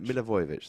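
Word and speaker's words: Milivojević: Milivojevic in the Milivojevic, that's how you say it.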